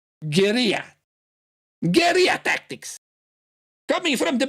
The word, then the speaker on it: guerrilla: Yeah, I know how you say it in English, but like I said, it's an Spanish word. Guerrilla.